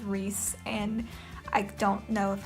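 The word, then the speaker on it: Rhys: you say his name I called him rice for the longest time and then found out that it was that it was Reese and I don't know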